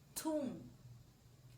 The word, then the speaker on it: tomb: Okay, everybody say tomb. Tomb. So it has a silent p sound. Silent. So you pronounce the word only up to tomb.